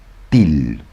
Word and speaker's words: Thiel: La gente que sabe más que yo lo llama Til, Peter Til. Pero bueno, se escribe Thiel, T H I L. T H I L. Peter, para nosotros vamos a llamarlo Thiel.